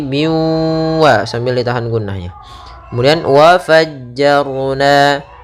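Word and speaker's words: وَفَجَّرْنَا: Kemudian wa fajjarna, ra di sini tebal, jangan dibaca wa fajjarna tapi wa fajjar, wa fajjarna fiha.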